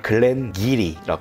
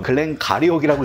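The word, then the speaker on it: 글렌기리: 힘들어서 그래 세 번째 이거는 많은 사람들이 잘못 읽는 증류소 이름 중에 하나야 여기 보면 증류소 이름이 써 있는데 뭐라고 읽을 거야 글렌 뭐야 가리오 그 글렌 기리라 해 그런데 네가 읽은 것처럼 글렌 가리오이라고 읽는 사람 많아게이어야 그렇지 글랜 기리는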